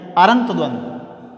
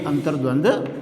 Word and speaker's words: अंतर्द्वंद्व: अरंत द्वंद। ये जो रेफ वाला है वो जिस वर्ण के ऊपर लगता है उससे पहले उसका उच्चारण होता है, तब यहाँ पर अंतर्द्वंद्व हो जाएगा, ये अंतर्द्वंद्व सही होगा।